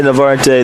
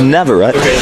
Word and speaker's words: Navarrete: I say Navarte, the correct pronunciation, my bad, is Navarrete.